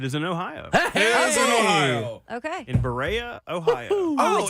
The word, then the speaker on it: Berea: Berea, Ohio is how They it's do.